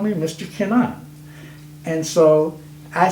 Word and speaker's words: Kennon: Kennon, I said, well, let me just, while we're talking, actually my name is pronounced Kennon.